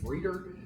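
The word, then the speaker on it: Frieder: Their co coach was Bill, I think I guess you pronounce it freeder.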